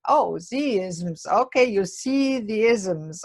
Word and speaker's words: Z-ism: I I I I I must admit I pronounced it zms first and I thought what's aism and then I read the the beginning of the book and it said oh Z isms okay you see the isms okay and it's